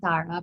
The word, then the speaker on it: Tara: is the relationship between thara the mother and anthara and am i pronouncing the names reasonably correctly or can you i i say antara and tara but i'm not anyone to correct you so okay all right